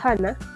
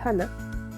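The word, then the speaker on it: 하나: El número 1 se le dice Hana, como el nombre Hana.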